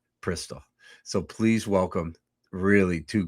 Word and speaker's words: Prystal: just go and say the way I pronounce it is. The way they pronounce it is Prystal.